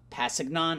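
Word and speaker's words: Kpassagnon: Passignon. I'm going to assume the K is silent.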